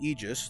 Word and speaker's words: Aegis: the game which is known as the Aegis the a is silent um but a little